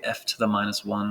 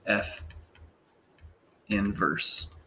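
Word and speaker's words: f⁻¹: f inverse of x we don't wanna say f to the minus one that's not how you say it it's f inverse of x okay so let's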